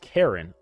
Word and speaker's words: Chiron: It's Chiron, right? Or is it Cheron? Cheron. The age isn't pronounced. Is it Kon? Let's Let's actually Let's Let's get more education connection. Get matched for free. Actually pronounced Karen.